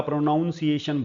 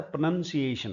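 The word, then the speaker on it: pronunciation: की बोला कि आपका प्रोनाउंसिएशन बहुत खराब है। बोले जी वही तो आपका बहुत खराब है। एक्चुअली ये शब्द होता है प्रोनंसिएशन। प्रोनंसिएशन का मतलब उच्चारण प्रोनाउंसिएशन।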